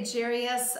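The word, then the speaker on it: Jairus: five in the Bible now some say Jarius I pronounce it gyrus now this story I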